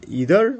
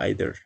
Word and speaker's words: either: is either or either we can pronounce it in both way the pronunciation is either or either both are correct temperature temperature this is